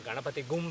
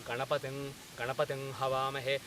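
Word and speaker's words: गणपतिं हवामहे: This comes, for example, in the standard Ganapati mantra, Om Gananaham Tva Ganapati Gum, people say, but the correct pronunciation is Om Gananaham Tva Ganapating Havamahe.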